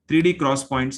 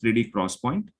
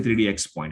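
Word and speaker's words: 3D XPoint: even next level see 3d cross points are pronounced 3d cross point uh don't say 3dx point it is called as 3d cross point is a nvme technology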